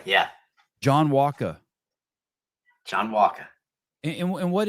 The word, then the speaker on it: Walka: So, if you're really pronouncing it right, we'd say the W like a V.